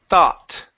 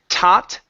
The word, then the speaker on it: thought: Okay, use your tongue instead of tot. Thought. Okay. Almost. So when I pronounce that th, it's thought. Okay, so I'm blowing air on the sides, on the top. It's going everywhere. So you don't want to say tot, tot. It's thought. Thought.